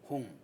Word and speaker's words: 홍: 예를 들면 이홍열 사회자님 하면 오라는 모음은 원순 모음이에요. 그래서 입술 순자 둥글 원자 원순 입술을 둥그렇게 해서 홍 홍. 이런 식으로 해줘야 네, 되는데 홍.